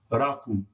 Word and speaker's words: rakum: And that word is pronounced rakum. Why? Because the ri letter, R, is always hard. And it's always rolled.